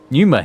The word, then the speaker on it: pneuma: Right now, the element is lightning, which draws the pneuma here to replenish the aether. Because I was feeling that P is silent.